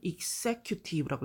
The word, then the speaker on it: executive: and business executives 그리고 회사의 executive 자, 읽을 때는 executive라고 읽습니다. executive 강세가 여기 이 위에 있고요. 이 x는 x라고 읽는 거 보통 아실 겁니다.